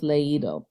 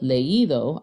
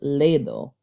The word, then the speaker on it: leído: And instead of leído, I would pronounce it ledo. But we don't want to hear ledo. We want to clearly hear the ending ido, because that past participle